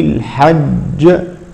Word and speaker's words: الحج: كذلك في قول الله سبحانه وتعالى الحج ولا جدال في الحج في الحج هكذا، الجيم الأولى ساكنة والثانية متحركة ولكنها عند الوقف تسكن فهكذا تقلقل.